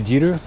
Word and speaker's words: Jeeru: You say Jeeru?